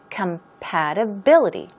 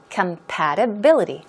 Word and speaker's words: compatibility: a long word and the stress goes right here compatibility compatibility okay it means Harmony